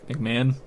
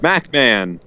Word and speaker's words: McMahon: Okay, well, at Kyle McMahon, is that how you say it? McMahon. No, that's not. Macman.